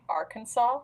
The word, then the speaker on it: Arkansas: gives me bad vibes it's where Walmart's from Arkansas is how it's pronounced apparently yeah weird yes but I call